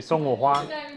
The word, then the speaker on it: 送我花: And say 送我花。送我花。送我花。送我花。 That's good. What does that mean? It's like thanks boss for the flowers. 送我花。 Yes. 送我花 means like give them 送我花。